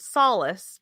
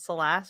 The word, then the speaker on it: Solace: The town name is called Solace, but I call it Solace, which is not how you pronounce it at all.